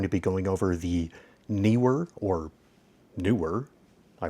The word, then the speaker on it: Neewer: today we're going to be going over the newer or newer I pronounce it kner because NE e KN guess we could put